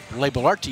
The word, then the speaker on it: Labellarte: of different uh pronunciations labellarte labellarty is what you were told right um let me check my notes here uh i've had so many lobby okay lava lartie la balarti okay okay and for